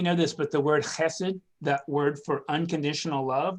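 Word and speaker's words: חסד: this but the word hesed that word for unconditional love that the that the chapter brings out it's it's spelled with an h but it's a ch sound like i don't know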